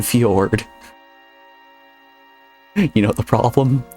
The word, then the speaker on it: fjord: The J is silent, like in Fjord.